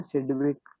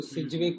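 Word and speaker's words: Sidgwick: वैसे सिडविक में जी साइलेंट होता है, ऐसे अब बोलते नहीं है तो वो सिजविक होता है, उससे कुछ होता है।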